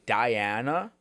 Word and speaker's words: Dajana: But it's pronounced Diana, so you hear it and you just think Diana, but like it written out makes it more unique.